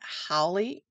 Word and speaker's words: Hole: one in the Harry Hole, or I think they pronounce it Howley in the audio. It's spelled like hole, but anyway, that's the